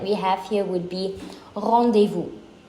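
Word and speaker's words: rendezvous: famous one that we have here would be revu it's not randevu Rand no R de V not Rend de Vu for an example I'm heading to my doctor's rendevu at 300 p.m.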